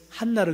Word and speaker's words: 한나: 한나를 그지 말고 가래배 들 때처럼 한나. 아유 잘하시네요. 이게 원 발음입니다.